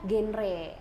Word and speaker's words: GenRe: mendengar genre ya Di jadi genre pakai r Tapi bacanya genre sendiri singkatan dari generasi